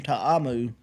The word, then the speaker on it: Ta'amu: Jordan Ta'amu.